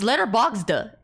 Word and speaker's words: Letterboxd: Letterboxd. Letterboxd. I'm still saying it like that. It's Letterboxd. How you pronounce box? Boxed.